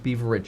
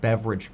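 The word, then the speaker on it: Beveridge: However, Powell did today spend more time talking about the concept of the Beaver curve, or it's spelled Beaver, but it's technically pronounced beverage curve, which I think sounds really weird because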